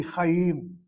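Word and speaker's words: חיים: If you have your syllable CVC and CVC with the accent having to be on the second syllable, it's a long vowel close. It should be Chaim.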